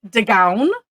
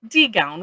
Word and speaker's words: D'Gown: So this will be tonight's quickie video is you could say D'Gown or D'Gown, whichever way you want to pronounce it.